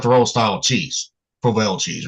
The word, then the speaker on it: Provel: Louis got their own style of cheese, Provel cheese, right?